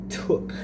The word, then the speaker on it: took: a gente vai falar took. Took, que é t o o k. Take no presente, took passado. Ele meio que parece um u, que mistura meio com com o. Então é took, took, took.